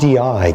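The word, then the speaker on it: gondii: Toxoplasma Gandhi and talk not Gandhi in the gandhian sense but probably because it's even pronounced differently okay how are you pronouncing it these days Gand Gandhi ey Gandhi ey because there's two eyes at the end which the old Mahatma never quite came up with but this parasite manages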